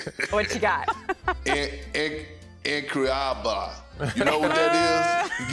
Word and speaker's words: incroyable: Yeah, it really has been incroyable.